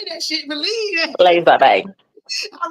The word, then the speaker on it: Les Abeilles: I told you I looked it up and everything, but the pronunciation, it wasn't coming out. Say it one more time. A belay. Les Abeilles.